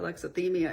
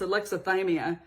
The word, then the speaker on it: alexithymia: I was saying it wrong all through the video, alexithymia. It's alexithymia. And I thought, wow.